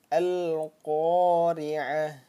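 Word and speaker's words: القارعة: Nah, maka kalau disukunkan atau diwakafkan, dia bacanya bukan lagi huruf ta. Nah, dia dibacanya bukan lagi huruf ta. Nah, kan coba ya kalau kita baca ini kan ta ya. Ini kan huruf ta. Coba kita baca al-qari'ah. Nah, dia berubah menjadi huruf apa?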